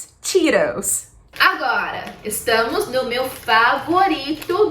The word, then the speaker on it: Cheetos: E esse T aqui tem um segredinho do inglês americano, que eles chamam de flap T, que a gente vai fazer como se a gente fosse pronunciar a palavra arara.